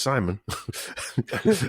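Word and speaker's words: Semen: yeah um his grandfather seaman pronounced simon who's called simeon simon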